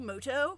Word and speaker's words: Muto: minute is that yugi muto actually his name is pronounced yugi moto we'll see about that hey